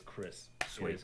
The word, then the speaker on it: Cris: The character name is Chris Bell, so it's Chris. Sweet. It is Chris.